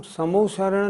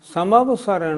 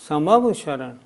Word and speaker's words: समवसरण: पहली बात, तीर्थंकर भगवान की जो सभा लगती है उसका नाम समोसरण नहीं, समवसरण है। हम सब लोग उसका उच्चारण करते हैं समोशरण, नहीं, समवशरण।